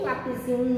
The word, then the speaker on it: lapisinho: Porque a sílaba forte não é mais o lá. Quando nós passamos para o diminutivo, vamos descobrir qual a sílaba mais forte. Lapisinho.